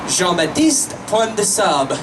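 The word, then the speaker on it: Jean Baptiste Point du Sable: The way to properly pronounce the black Haitian fur trader's name, it would be Jean-Baptiste Pointe-de-Sable. If you're pronouncing at least slightly correct, I am not very good at French.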